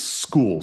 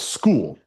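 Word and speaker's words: Skool: on a platform called school and all you guys who are inside those platforms you have seen that school is spelled funny right? S K O O L and so it is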